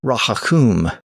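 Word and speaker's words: rahaughcum: native people called a raakum. R a h a u g h c u m. That was his attempt to spell the word the way the local people pronounced it.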